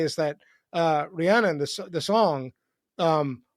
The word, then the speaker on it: Rihanna: It's Rihanna, not Ri. Yeah, Rian. Yes, Rian.